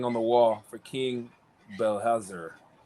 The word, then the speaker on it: Belshazzar: Who interpreted the writing on the wall for King Belshazzar? Belkazar.